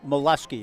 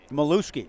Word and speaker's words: Milewski: Tommy mileski the batter it is a mollusky isn't it or how do you pronounce that milewski thank you I'm certainly